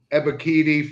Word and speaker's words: Ebiketie: They got always hard to pronounce, but it's Ebiketie from Penn State.